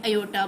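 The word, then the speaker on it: iota: = a + आयotb यह जो i है इसे हमने यहां पर प्रोनाउंस क्या करना है एयटा ओके ये क्या होगा स्टूडेंट हमारा यहां पे इसको हम क्या बोलेंगे आयोटा बोलेंगे वेयर ए बी बिलोंग्स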